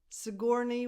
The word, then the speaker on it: Sigourney: Sigourney Weaver. Sigourney, this is a nickname too. Sigour, the stress goes on the second syllable, on gore, so the first vowel is a schwa.